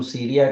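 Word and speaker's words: سوريا: रहे वह वास्तव में अरबी भाषा में उसका जो उच्चारण है वह सूर्या है आपको सूर्या का तो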